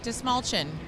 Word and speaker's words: Dastmalchian: your last name Natasha the trick is quite simple remember that think that you have a small chin this small chin so David de small chin just mulching did I say it